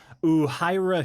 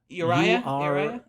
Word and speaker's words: Uriah: Uhira Shelton. Yeah. Ooh, I don't know if I'm pronouncing that correctly. Sorry, Uhira. Uriah. Uriah. Ooh, like Uriah the character Shelton. from David Copperfield, I think.